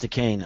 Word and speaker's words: Dacane: again means yeah decain it's pronounced decain I mean listen you